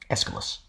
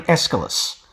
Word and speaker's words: Aeschylus: The AE was treated just like an E was in Anglo-Latin, which is why Aeschylus has an initial short E, even if it's spelt with an AE. Aeschylus.